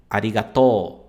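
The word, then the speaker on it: ありがとう: Quando a gente tem a letra U após uma letra terminada com O, você não vai pronunciar ele, você vai prolongar o som. Então, você vai falar to, to.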